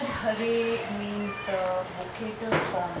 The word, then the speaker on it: Hare: But that Hara becomes Hare in the vocative form.